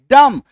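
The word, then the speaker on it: dumb: ओ एम बी वूम बी यू एम बी डम बी को काट दो है ना बी को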